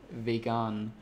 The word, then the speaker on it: Vegan: And it's pronounced vegan, so it's more like a really soft sound, vegan.